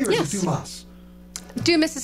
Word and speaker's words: Dumas: Am I pronouncing that correctly, or Yes. is it Dumas? Dumas is how we say it.